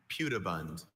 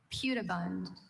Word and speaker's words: pudibund: Pewabund. Pewabund.